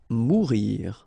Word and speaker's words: mourir: Mourir. Okay, so same thing that we saw previously. O-U here, when you combine the two, you get the sound OU. Okay, so mourir. Partir.